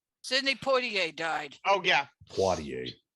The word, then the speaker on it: Poitier: Poitier, not Poitier. Well, however you pronounce it.